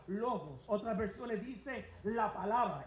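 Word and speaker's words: λόγος: So, si estudiamos ese versículo, el verbo eterno en griego se pronuncia lobos.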